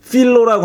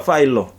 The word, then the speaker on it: 필로: 이거는 근데 유명한 필로라고 하는 사람이 그렇게 해석했다 그래요. 이 필로를 이 미국 사람들은 다 파일로라고 읽더라. 파일로. 어쨌든 우리는 필로라 그러죠. 필로라고 읽는데 그 필로라는 사람이 이 그 구약 성서의 내용들을 굉장히 알레고리컬하게 해석한 사람이잖아요.